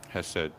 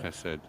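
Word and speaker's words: חסד: side, so to speak, which is how you pronounce it, Hesed? Hesed, yeah. Okay. Hesed.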